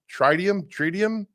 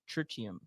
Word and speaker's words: tritium: Tritium. Tritium? That's your goal. By the end of the show, figure how we pronounce that. It's like lithium.